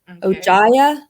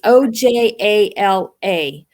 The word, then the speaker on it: Ojala: I cannot pronounce her last name, but it's a woman named Sharon Ojaya. It's Ojala.